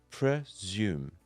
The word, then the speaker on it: presume: is pronounced pr and the ending of the word is spelled s-u-m-e and is pronounced zoom zoom so let's put that together pre-zoom now it's your turn